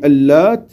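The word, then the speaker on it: اللات: Al-Lat est prononcé avec shadda et sans shadda. On dit Al-Lat sans shadda, bit-takhfif, et Al-Lat avec le tajdid de la lettre Ta.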